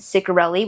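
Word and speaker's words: Ciccarelli: Heartless Hunter by Kristen Curelli, which by the way, I watched two realels where she was introducing herself and that is how she pronounced it.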